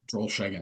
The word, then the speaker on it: Drollshagen: Drollshagen.